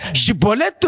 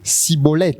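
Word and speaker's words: Shibboleth: Il fallait que cet homme prononce Shiboleth. Et par sa manière de prononcer, on allait comprendre si réellement il est Éphraïmite ou il est Galadite.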